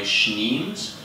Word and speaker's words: Schneems: On the internet, I go by Schneems. Some people think that's really hard to pronounce, so it's kind of like Schnauzer or Schnapps, perhaps.